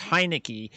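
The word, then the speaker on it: Heinicke: a very good career i think it's pronounced heineke he had a very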